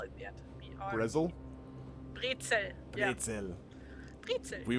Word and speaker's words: Brezel: country that and, pronounces the word brezel as pretzel. Like, I'm not gonna take anything. I want What? some pretzels. Wait, what? The word. Brezel. Pretzels? You guys pronounce it as pretzel, and I don't know why. There's And no what- P in there or You T, pronounce it just like an evil brezel. mad scientist. Pretzel. That's how you. But Brezel. it's written P-R-E. No, just in English.